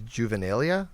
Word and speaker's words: juvenilia: It sounds like a pedophile Juvenilia. something. Like, Right. I'm not sure I know juvenilia stuff with you. Exactly. I think because it rhymes with genitalia.